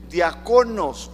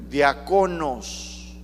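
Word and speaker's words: διάκονος: la palabra diáconos Sí en griego se pronuncia diaconos con cada kilo diaconos o diáconos pero con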